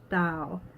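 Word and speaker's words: dao: you sure yeah yo Dow Dow is spelled T a o or sometimes it's spelled da o depending on which pinyin alphabet you're using have one hand in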